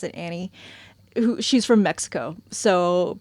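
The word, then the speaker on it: Anny: They are married, but their third is Annie, spelled an N y, but they pronounce it Annie, who she's from Mexico.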